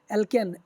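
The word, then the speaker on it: alkane: ये एल्केन जहाँ पे भी आप लोग जब भी इसको पढ़ेंगे आपको लोग को प्रोनाउंसिएशन ऐसे आएगा, एल्केन, एक में आएगा एल्केन ANE, एक में आएगा एल्कीन ENE, और एक में आएगा एल्काइन YNE, ठीक है।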